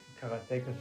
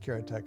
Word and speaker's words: Karateka: In Japanese, there's no stress on any syllable, so it would be karateka, something like that.